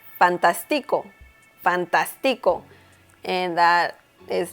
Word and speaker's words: fantástico: Once again, we see here some intonation that we need to pay attention to. And we can see that the letter A here in the middle of the word has an accent mark. So, once again, the intonation is stronger there.